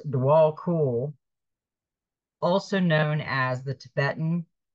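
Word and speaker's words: Djwal Khul: Dwal Kul, pronounced Dwal Kul, also known as the Tibetan Buddhist master, who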